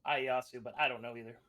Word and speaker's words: Ieyasu: Ieyasu. Yeah. Is it Ieyasu?